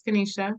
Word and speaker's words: Kaneshi: And I know you guys are thinking, did she say an I? I did. The I is pronounced as an A. It's Kaneshi. We like to keep things